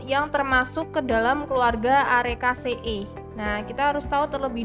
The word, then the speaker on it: Arecaceae: Nah, di sini kan kita diketahui bahwa ada famili Arecaceae. Nah, EAE ini bacanya EE ya. Soalnya ini kan double.